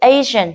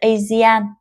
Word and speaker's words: Asian: Từ Asian là người châu Á thì nó sẽ là A và Jen, không phải là Asian.